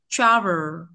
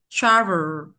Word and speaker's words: travel: Không đọc travel bằng nhau đâu. Trọng dây một đấy. Dây một phải đọc là travel, travel, đúng không?